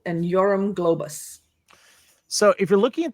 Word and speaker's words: Yoram Globus: And I'm going to let Lacy uh properly pronounce these names. Ah, okay. So, it's Manakahim Golan and Yorum Globus.